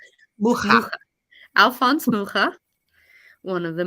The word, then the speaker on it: Mucha: Mucha.